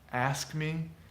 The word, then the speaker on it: ask me: s K m and we often remove the middle one when that happens ask me ask me you just